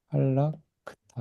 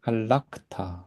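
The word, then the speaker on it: הָלַכְתָּ: 근데 본래 형태인 돌아가 가지고 어떻게 되냐면 알락크타 이렇게 알락 문장이 끝나면서 강세가 오면서이 아가 이제 아로 까매치가 이렇게 길어지는 겁니다. 알라크타 이렇게 하면은 아 문장이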